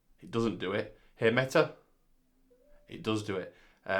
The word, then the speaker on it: Meta: doesn't do it hey meta it does do it uh what time is it it's 7:39 p.m. so you really got to pronounce a t in meta so hey meta hello